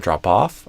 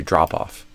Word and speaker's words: drop off: largest drop off in so you stress the off I would stress the drop so instead of drop off I would do drop off the so similar to